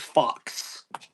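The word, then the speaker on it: Fuchs: Well, I know I dated a girl last name was fu cs and she pronounced it fox.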